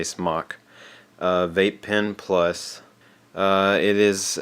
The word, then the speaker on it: SMOK: It is the SMOK or SMOK. Some people pronounce it differently. I say SMOK.